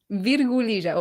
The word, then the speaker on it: virgulilla: Virgulilla o virgulilla.